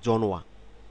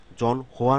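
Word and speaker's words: 전화: নেই এটার উচ্চারণটা হবে জনোয়া জনোয়া জন হওয়া না হয়ে জনোয়া জনোয়া হবে জনোয়া শব্দের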